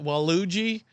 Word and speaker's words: Waluigi: Waluigi. He's like the backwards Luigi, like the evil Luigi, I think is what he's Waluigi. Waluigi, yeah, like Wario and Waluigi.